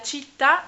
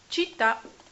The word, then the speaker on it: città: Que ciudad se dice Città. città. Città con un acento como en francés Grave. al otro lado.